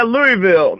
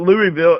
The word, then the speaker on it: Louisville: like my Louisville right you got to cut out the syllables you don't it's you just slow it down and he's calm well King Louis the 16th Louisville oh yeah Louisville no it's not Louisville it's Louisville it's hurricane okay hurricane not